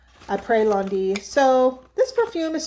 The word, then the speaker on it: Après: Apres Lundi, probably the S is silent. Après Lundi.